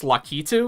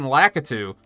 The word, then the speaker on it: Lakitu: was like, holy shit, it's pronounced Lakitu? What the fuck? I thought it was fucking Lakitu. And then I was like, oh yeah, with the Japanese pronunciation, Lakitu would make sense.